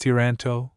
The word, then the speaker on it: Toronto: Toronto pronounced Tranto please is difficult to describe.